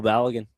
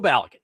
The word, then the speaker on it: Balogun: Florian Balgan. Florian. Okay. I I thought I was saying it right, but Adam Bingan keeps correcting me. You say Flo Balligan. Flo Balagan.